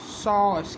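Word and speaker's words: sauce: जैसे तुम्हारा दिया गया है एस ए यू और सी ई, इसका मतलब क्या होगा, सॉस।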